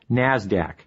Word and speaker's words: NASDAQ: the New York Stock Exchange NYSE and the NASDAQ which is pronounced NASDAQ NASDAQ stands for the National Association of Securities